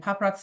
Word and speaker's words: PopRoxx: And PopRox is spelled POPROXX.